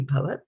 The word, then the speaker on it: abhavat: Abhavat, and this A is silent when we are pronouncing it, so it will be bhavat.